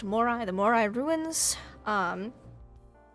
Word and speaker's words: Moray: that is cool so it's spelled m-o-r-a-y but it's pronounced Mori the more I ruins